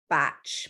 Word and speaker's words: Bach: He like, or maybe it's pronounced batch, but it's spelled Bach.